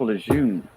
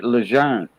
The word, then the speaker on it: Lejeune: the time gotcha yeah they call that y'all over there pronounce it camp lejeune yeah well the guys yeah it's actually legend yeah the guy's last name was lejeune yeah legend that means young in french yeah and he was